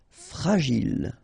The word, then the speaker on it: fragile: Okay, final E not pronounced, and then when you get this G and I, J. Gilles. Fragile.